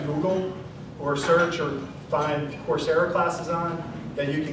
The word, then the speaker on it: Coursera: So this is to kind of give you concepts, stuff to Google or search or find Coursera classes on, that you can go ahead and learn more.